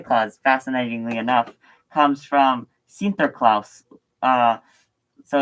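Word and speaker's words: Sinterklaas: I think and um they uh pronounced Saint Nicholas as sinterklaus or sinterklaus um but the Americans heard Saint uh heard um Santa Claus so that's what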